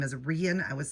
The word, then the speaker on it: Rein: She said it's like Ian but with an R. So, it's Rian.